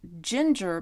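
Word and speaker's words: Gingher: heard of this brand they're Ginger but is spelled g i n g h e r these are very lightweight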